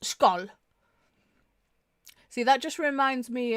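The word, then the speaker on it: skål: Uh, scowl Danish, Norwegian, Swedish, or uh, skull in Icelandic is a traditional Scandinavian toast meaning cheers to or good health pronounced skull.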